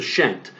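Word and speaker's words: pschent: a double crown that's known as the scent uh or the sometimes they're just the shent uh is the actual pronunciation of the word uh so narmer when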